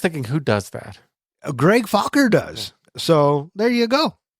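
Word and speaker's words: Focker: say your last name oh just like it's spelled f o c k e r fuer yeah and then so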